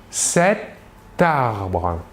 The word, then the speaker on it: cet arbre: Précision, nous ferons une liaison entre la T finale de l'adjectif démonstratif c'est et le A du début du mot arbre. Cet arbre.